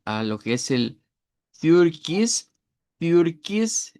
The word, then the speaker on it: Türkis: lo que es el Türkis. Türkis. Esta es una i es una i y esa que está acá, pero en realidad es una i redonda.